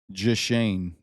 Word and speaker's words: Jashane: Jashane. The H is silent.